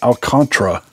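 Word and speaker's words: Alcántara: Sandy Alcatel a contra I keep forgetting they pronounce they pronounce it alcantra like Contra like I don't know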